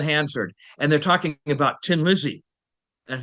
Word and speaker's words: Thin Lizzy: And that is it's the pun tin Lizzy because a th in um in Irish is pronounced h. And and so it's you know like the old car tin Lizzy.